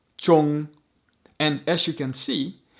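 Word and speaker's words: 中: For example, here's the character for middle again. It's pronounced chong.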